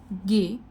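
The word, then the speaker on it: Gay: इसके बाद आएगा गे। इसको गे ऐसे करके हम प्रोनाउंस करते हैं। जी नहीं है यह। प्लीज इसको जी से प्रोनाउंस मत कीजिए।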